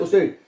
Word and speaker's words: U: उ यू को आपने उ पढ़ना है।